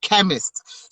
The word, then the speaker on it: Kemiist: Kemiist, chemist. So don't go ahead and spell it as the actual word chemist, but it's Kemiist.